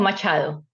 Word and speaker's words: Machado: job than I could so how do you pronounce it Monica Machado okay Monica Machado I still remember your last